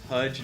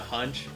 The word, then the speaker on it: Hudge: Hudge, not hunch.